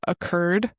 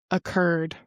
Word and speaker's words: occurred: to pronounce the word occurred. Occurred. Occurred. It's almost like if I were saying kurd. Don't know if any of you are Kurdish, but occurred. Kurd occurred. Okay, nice.